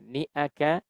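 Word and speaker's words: شانئك: Nah, biasanya sering terjadi kesalahan juga ketika membaca niaka. Niaka ini suka terdengar niaka. Nah, bukan niaka. Jadi hati-hati hadirin. Kadang kala ada yang bacanya niaka. Nah, niaka itu berarti pakai iya gitu ya. Sedangkan yang betul adalah ni aka gitu ya.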